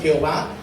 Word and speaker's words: Jehová: Entonces Jehová es la unión de las vocales Adonai. Adonai significa Señor, el Señor. Entonces tomaron las vocales de Adonai junto con el tetragramatrón y salió Jehová, que es Jehová en español.